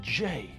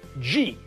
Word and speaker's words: J: The middle initial of this man's name is not pronounced G. G is a different letter. G is the letter which is between F and H. His name, that actor's name, is Michael J. Fox. There is no G in his name.